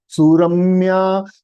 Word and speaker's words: Suramya: Can you pronounce Suramya without that feeling? हम मराठी लोग सुरमई का याद आता है. सुरम्या I am talking about, okay? Not सुरमई.